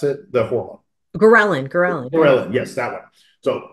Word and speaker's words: ghrelin: So even the mechanisms itself, it's a, and I'm gonna butcher the word here, ghrelin, I believe is how you pronounce it, the hormone. Ghrelin, Ghrelin, yes, that one.